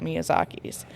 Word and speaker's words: Miyazaki: Miyazaki, Yep.